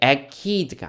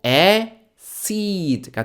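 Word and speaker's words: acid: 할 때 그 산인데요 아이가 왔기 때문에 이게 ached가 아니고 에시드가 된다 그죠 seediy D 내 머릿속에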